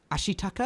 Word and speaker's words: Ashitaka: So the plot of the film is a young boy called Ashitaka. Am I saying it right? Yes. Yeah. Yes. Yep. Got that one. Ashitaka, who comes from a village in the east